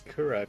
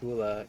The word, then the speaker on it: Kura: Before they had to rebrand as Kura because people kept on saying Kula, you know, it's supposed to be pronounced as R because it's Asian, but people couldn't figure it out, so they had to actually change their name to Kura.